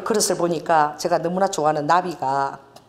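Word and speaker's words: נביא: 이 나비가 히브리어 나비라는 게 발음이 똑같아.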